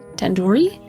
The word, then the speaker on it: tandoori: Tandoori? Tandoori. The do isn't like in door. It's like in doo-doo head. Are you 5 years old? You could have just said like the do in due date. Tandoori.